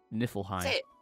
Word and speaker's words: Niflheim: Niflheim.